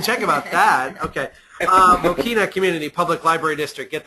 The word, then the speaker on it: Mokena: up with uh Brian and Dave of the mochena community Public Library District in mochena Illinois I believe I am I am pronouncing that right correct guys uh m mochina